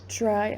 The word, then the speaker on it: try: A side note before we continue, notice how I said try. I pronounced it with an H sound almost. This happens a lot when a word has T and R followed by it. So TR in try, we say it more with an H sound, so try.